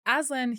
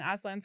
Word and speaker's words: Aslan: Aslan, he's like this Christ figure in Narnia where he is innocent or like without fault and is killed.